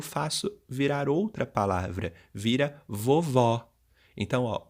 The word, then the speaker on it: vovó: vovô e vovó que você falar vovó com som aberto e colocando acento agudo é vovó do site do sexo